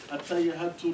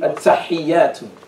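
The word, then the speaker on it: التحيات: At-tayyatu lillahi At-tahiyyatu. at-tahiyyatu At-tahi, not tayi. at-tahiyyatu wa At-tahiyyatu at-tahiyyatu lillahi.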